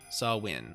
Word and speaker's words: Samhain: Wait, is it Saw Win or Saw Ween? Oh. Saw Win, okay.